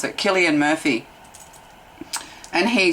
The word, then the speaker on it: Cillian Murphy: Like, was it that Irish actor from Oppenheimer, Gillian, yeah, sorry, Murphy? Killian, that's how you pronounce it, Cillian Murphy.